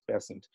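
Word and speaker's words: Besant: the circle around annie bessent uh byzant but she insisted that her surname be pronounced present and when krishnamurti then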